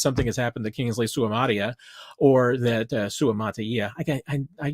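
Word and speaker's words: Suamataia: I get my Ozark accent every once in a while, and I start dropping that that kind of in the middle syllable. I need to start slowing down when I say Suamata Ia.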